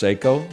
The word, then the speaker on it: Seiko: watch do you wear it's a psycho cocktail time you might say it's pronounced Seiko not when I wear